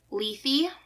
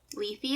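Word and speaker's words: Lethe: called oh my gosh I looked up the DEF the pronunciation leafy leafy it's Greek uh found by the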